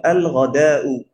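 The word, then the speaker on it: الغداء: আচ্ছা, গইন দিয়েও যদি কোনো শব্দ শুরু হয় সেখানে আলদা উচ্চারণ হবে। এই জন্য আল গদাউ, আল গদাউ মানে হচ্ছে কি?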